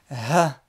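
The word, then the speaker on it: ح: il va être en haut. Na, nou, ni, n. Le Ha, également une lettre qui se prononce dans la gorge, d'accord, au fond de la gorge, le Ha, qui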